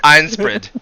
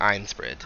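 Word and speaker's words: Ainsprid: i can say it like iron spread like it looks like it like einstein but it's with an a so it has that like nasally iron like it's it's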